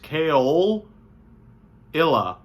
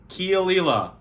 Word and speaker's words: Caol Ila: It's like coal backwards, Caol Ila or Isla. It's Caol Ila.